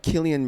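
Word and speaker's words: Cillian: a bigger star because what's his name again killian murphy i believe that's how you pronounce this yeah yeah but you know he's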